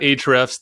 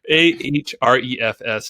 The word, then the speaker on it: Ahrefs: lower um but yeah check out ahrefs that a is silent it's a-h-o-r-e-f-s dot com i've been wanting to say that for a while a-h-r-e-f-s dot com ahrefs seven